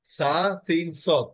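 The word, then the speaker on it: ص: সা সিন সদ sir scene হবে স্যার হালকা আর সদ হবে ভারি একটু নিচের থেকে জিহ্বার থেকে একটু তালুর সাথে মিলে যাবে স্যার হবে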